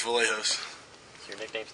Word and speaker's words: Vlachos: Vlachos. It's Greek. My father's Greek, and the C in it is silent. But it's Vlachos, not Vlachos or any of that.